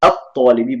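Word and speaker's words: الطالب: Now I'm pronouncing it as al-talibi just for teaching purpose. I know some of you would have studied the rules pertaining to pronunciation. Normally it would be at-talibi, but for the purpose of this session, I'm going to pronounce everything separately.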